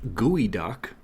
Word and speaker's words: geoduck: The uh the one I found today is a geoduck or I guess as it's supposed to be pronounced, gooey duck, but it's definitely spelled geoduck.